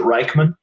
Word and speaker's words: Reichman: East, 4800 South, Dondi Reichman, I guess is how you say the last name. I hope, is that right? Is it Reichman? Reichman's how she's said it to us, yeah.